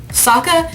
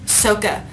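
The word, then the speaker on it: Sokka: then made the movie none of the names are pronounced correctly at all eng is on saka is soka iro is eero okay and it makes no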